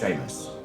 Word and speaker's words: Sheamus: our we fire child is it Sheamus seus Samus cuz the wee baby Shamus is quite funny also that we would raise a tiny fire together uh of of Irish descent despite me being check notes the villain it is pronounced Sheamus all right oh look